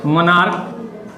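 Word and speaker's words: monarch: जैसे में देख लीजिए मोनार्क, मोनार्क मतलब राजा होता है।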